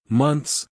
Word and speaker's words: months: each word more clearly months again the th sound followed by an S is too difficult pronounce this word without the th sound just say months say I will stay for one month month but he will stay for six months months thanks for watching goodbye